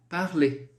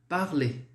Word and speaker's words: parler: Então, vamos lá, o primeiro verbo, parler. Tá? Você vai ver aí que tem o ER, né? Só que esse R a gente não vai pronunciar. Então a pronúncia ficará assim, ó. Parler. Parler.